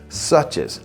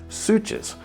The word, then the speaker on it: Suches: Pronunciation matters here because most outsiders get this one wrong. It's Suches, not Suches.